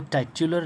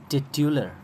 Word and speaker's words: titular: Okay, और इसको टाइट्यूलर नहीं पढ़ेंगे। टाइटल तो हमने पढ़ा, लेकिन इसके एडजेक्टिव को हम टाइट्यूलर नहीं पढ़ेंगे, बल्कि टिट्यूलर, ये है इसका प्रोनाउंसिएशन।